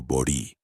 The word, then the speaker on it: bori: En la religión yoruba existe un ritual fundamental llamado bori con acento en la i, que significa literalmente alimentar la cabeza.